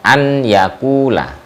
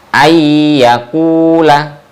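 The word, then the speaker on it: أن يأكل: Seperti contoh ayyakula, itu bacanya ayyakula, bukan an yakula, tapi ayyakula, gitu ya.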